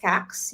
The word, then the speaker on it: Kax: everybody my name is cax you pronounce it as the same as facts tax wax just for the people